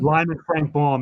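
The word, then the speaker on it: Lyman Frank Baum: Lynn Lyman Frank bomb is that how you say his name Lyman Lyman Frank bomb that's it he died May 6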